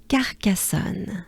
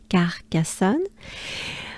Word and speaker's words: Carcassonne: So, actually the A sound I was talking about is actually pronounced twice in this name, Carcassonne. So we have again A, R, A again, and then we will have the sound O, O.